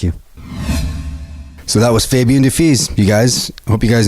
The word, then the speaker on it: Dufils: Poska, and Fabien Dufils, not Dufis, which I've been apparently fucking up for the last like 6 or 7 years. .com. Thanks, you guys. Thank you. So that was Fabien Dufils, you guys.